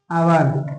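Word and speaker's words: hour: जैसे जैसे उदाहरण के तौर पर मैं एक घंटे में वापस आता हूं तो लिखूंगा आई कम बैक खाली स्थान आवर ठीक है ये ध्यान देना आवर में एच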